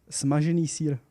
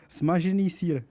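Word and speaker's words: Smažený sýr: Smažený sír. One more time. Smažený sír. Smažený sír. Was that pretty good? Yeah, but the pronouncing in Czech is really hard for you.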